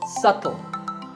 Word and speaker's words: subtle: would you say it it's subtle the B is silent subtle means something that